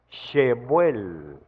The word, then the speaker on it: Shebuel: Entonces, buscando lógicamente una explicación más detallada de la Biblia, resulta que Sebuel se pronuncia Shebuel.